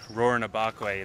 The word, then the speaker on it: Rurrenabaque: see some stars that's all we care about roaring abok way now i can finally pronounce it although we also learned that people